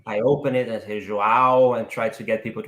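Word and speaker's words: João: what so i i open it and hey joao and try to get people to understand and i normally spell it as well j-o-a-o and there you go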